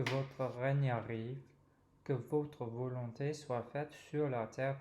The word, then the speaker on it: volonté: the Notre Père because that first syllable is open, vo, and I think that generally the Anglophones will tend to pull back that L. So the L should be the next syllable, longté, or rather long, and then te to close the word.